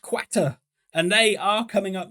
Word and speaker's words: Qatar: for Portugal as we've established it's pronounced quater and they are coming